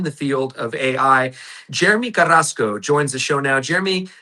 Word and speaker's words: Carrasco: First of all, thank you for pronouncing my last name, Krasco.